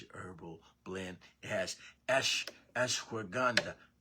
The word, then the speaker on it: ashwagandha: It has ashwagandha. Ashwagandha. Is how you say ashwagandha. Ashwagandha. If I'm saying it right.